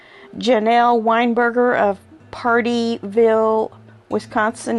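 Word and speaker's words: Pardeeville: Weinberger of partyville Wisconsin now not party like p a r t y partyville Wisconsin uh it's party p a r d e e I'm pretty sure I'm pronouncing that that Wisconsin Town correctly the was canonian can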